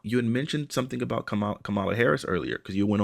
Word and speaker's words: Kamala: out you had mentioned something about Kamala Harris earlier because you went on quite a bit, and I just let you It's rock. Kamala. It's Yeah, Kamala.